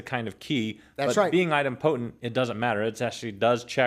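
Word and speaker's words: idempotent: Item potent.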